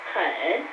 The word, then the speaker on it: 很: 外面很, the third tone means really or very much.